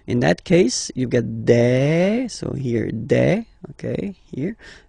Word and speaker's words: des: Okay, and then the plural form, des. Alright, here S, you pronounce it like e. Okay, un, une, des.